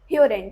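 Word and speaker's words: hören: ह्योरेन. ह्योरेन मतलब टू हियर. ओ उमलाउट है तो कौन सा साउंड आएगा, ह्योरेन मतलब ओ उमलाउट वाला साउंड.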